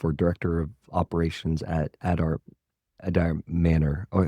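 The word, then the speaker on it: Adare: I say Adair, but also I have a American accent, so I don't know if it's a little different or not, but yeah, shout out to him.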